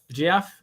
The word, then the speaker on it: Geoff: jeff how do you say jeff j g-e-o-f-f jeff what you said that last time we had